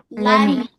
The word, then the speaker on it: let me: If you want to sound naturally, T-nya enggak usah dibaca. Jadi langsung let me.